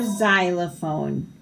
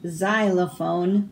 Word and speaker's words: xylophone: X is for xylophone. Xavier's extra arm made him an exceptional xylophone player. So the X sounds like a Z.